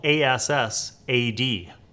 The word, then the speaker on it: Assad: Okay, I don't know if I'm pronouncing it right, but it's spelled A-S-S-A-D. So I'm going to say Assad.